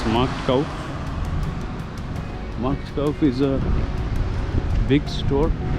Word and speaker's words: Marktkauf: আমি এখন অলডিতে যাব, and then I'll go to Marktkauf. I did not pronounce it correctly. It's Marktkauf.